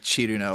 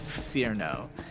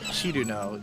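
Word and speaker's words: Cirno: Well, in in the case so the character's name is spelled C I R N O which naturally reads as Sir, but in Japanese of course it would be written chiruno. And the reason people care in this case is because she is an ice fairy. And the joke is that she has chill in her name. Like Chiru is how Japanese people would pronounce chill.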